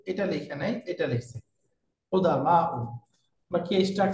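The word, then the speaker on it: قدماء: কি কুদামা, এটার বানানটা এখানে যেভাবে আছে অভিধানে কিন্তু এই বানানটা না, কুদামা। এটা বহুবচনটা হয় ফুআলা ও এই স্ট্রাকচারে। তাহলে আসলে কি হওয়ার দরকার? কুদামাউ, এরকম হবে।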